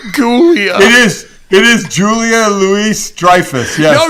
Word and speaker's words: Julia Louis-Dreyfus: it is it is Julia Louis-Dreyfus yes no you don't pronounce the s you don't no it's like Illinois yeah yeah have you